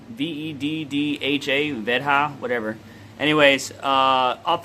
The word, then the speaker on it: Veddha: So I can't pronounce the name of it. Veddha, V-E-D-D-H-A, Veddha, whatever.